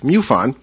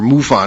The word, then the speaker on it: MUFON: Marc is also the National Director of Photo and Video Analysis for the Mutual UFO Network, MUFON, or MUFON as it's sometimes pronounced.